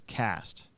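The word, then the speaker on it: Quast: and i think it's cast i think that's how you pronounce it otherwise it would be quest or quest i think it's cass though kyle cast and it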